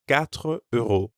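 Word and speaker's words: quatre: probably try a different market four euros is katre and how about five five is sunk so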